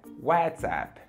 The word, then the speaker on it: WhatsApp: WhatsApp Zap Zap Zap na pronúncia correta é Whatsapp Whatsapp repeat with me